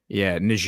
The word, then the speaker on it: Niger: Niger just banned BBC and Niger. Niger. If you're the French pronunciation just banned BBC.